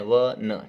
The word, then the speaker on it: won: इसको पढ़ते हैं वन, WON क्या होता है अपने? वन, ठीक है ना, प्रोनाउंसिएशन वन होता है।